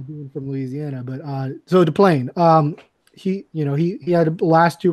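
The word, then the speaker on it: Deplagne: And then I have, and Reid, you can help me out in the pronunciation here. Deplanier from FC. What's that? Deplane.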